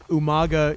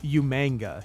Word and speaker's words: Umaga: jiri and he would call umaga umanga he would literally add an end you man i manga